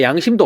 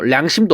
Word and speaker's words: 양심: 그리고 야, 너 진짜 양심도 없다 할 때 우리 야, 너 량심도 없다 이렇게 해요?